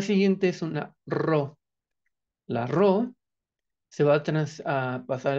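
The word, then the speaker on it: ρ: es una ro la ro se va a a pasar a español como una r no pronunciar así como si fuera una doble r Ajá muy bien la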